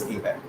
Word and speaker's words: ABAC: based access control and we call it abac absc and we actually pronounce it as a back and in similarly this